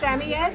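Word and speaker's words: Samoyed: How would you actually pronounce it? It's Samied.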